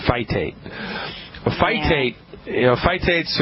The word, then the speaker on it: phytates: spell that for you p hy t like tom is a t like thomas e fight ate a fight a fight